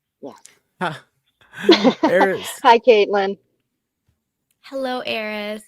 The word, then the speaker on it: Eris: It's Eris. Eris. Eris Welcome is to the goddess of discord. I'm a troublemaker. That's why you found me. Yes. Yes. Eris. Hi, Caitlin. Hello, Eris.